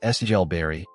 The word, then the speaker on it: Silbury: Silbury Hill, pronounced Sigel Berry, looks simple from the road.